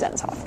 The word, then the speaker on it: Dennis Hof: but yes his name his name is pronounced denisof anyhoozles so now that